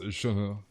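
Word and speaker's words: Shenhe: That's how it's pronounced, Shunho.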